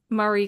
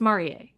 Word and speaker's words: Marie: She's Japanese, so it's Marier. People don't say they call her Marie, but it's Mari. Okay. because it's got the e and that's how they say it and and they kind of say like mar it almost sounds like mar when they when they say it but it's marier but anyway but with Maria